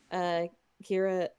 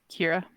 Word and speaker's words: Kira: We can have her be like a long-term member of Kiara, how are you pronouncing it? Kira.